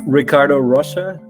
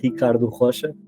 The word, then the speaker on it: Ricardo Rocha: It's Ricardo Rocha, University of Oxford, Department of Biology. So that's the English pronunciation. The Portuguese pronunciation would be Ricardo Rocha.